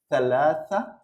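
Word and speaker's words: ثلاثة: I know the letter is not a little bit tricky but okay it's Thalassa Thalassa okay and this is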